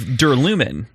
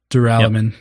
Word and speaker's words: Duralumin: I called it Duralumin, which is dumb. It should be Duralumin. Duralumin. Also works if you're pronouncing aluminum as aluminium, which for most of the world is correct.